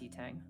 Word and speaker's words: Yitang: Yin Tang I have down here. Yeah, it's pronounced Yitang.